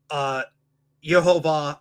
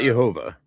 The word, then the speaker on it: Yehovah: the Golden Dawn system, you have Yehovah, Adonai, Not Jehovah. No. We never say Jehovah.